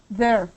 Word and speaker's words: there: word for me please there there there it's kind of like they but not they it's like there the